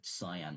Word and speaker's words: cyan: I don't usually pronounce it can. It's usually cyan, like nan cat.